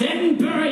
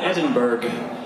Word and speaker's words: Edinburgh: It's pronounced Edinburgh, you cheap piece of plastic. You call it Edinburgh.